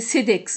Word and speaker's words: CEDEX: 77 482 Provins, CEDEX. La dernière fois, j'ai dit Codex, excusez-moi, c'est CEDEX, hein, C-E-D-E-X.